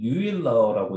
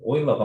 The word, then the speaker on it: 오일러: 그럼 오일러 뭐 유럽 뭐 이런 그리스 말고 뭐 다른 나라는 유일러라고 읽는 애들도 있어요. 혹시나 헷갈리지 말고 오일러가 맞는 발음입니다.